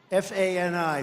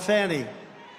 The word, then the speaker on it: Fani: It's called Fanny. You have to pronounce Fani. I don't know how she gets. She should add a little U in there someplace if she wants people to call her.